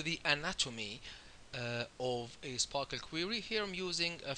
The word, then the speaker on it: SPARQL: stand for you know Sparkle obviously is pronounced Sparkle you know she says